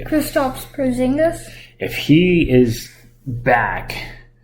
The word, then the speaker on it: Kristaps: So you got Mavs winning tonight, but I'm thinking if Krista shows up, they're going to be all over it. Did I pronounce his name wrong again? Yep. What's his name? Kristaps Porzingis.